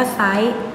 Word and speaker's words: ไซร้: เป็น ตัว ร เรือ แต่ เวลา อ่าน เรา จะ อ่าน ไม่ ออก เสียง ร เรือ นะ นี้ นะ คะ ที่